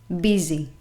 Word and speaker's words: busy: adjective busy busy and the way you pronounce this particular letter is the same when you say that i'm terribly busy or i run a business it's just an e sound a short e sound busy i'm busy